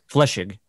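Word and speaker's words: Flechsig: How do you pronounce? Is it Fleischig? Fleischig. Yeah. Okay. Yeah, Fleischig.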